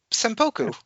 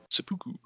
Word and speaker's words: seppuku: Yeah, and then he commits to Senpoku. He goes, what? Is that not how it's pronounced? Is it Hirakiri? Seppuku.